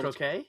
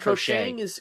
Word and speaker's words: croquet: about croquet? Yeah, Yeah, that. yeah. I said crochet. Crocheting. Yeah, I is said like crochet. knitting. Croquet. Yeah. My bad. Croquet.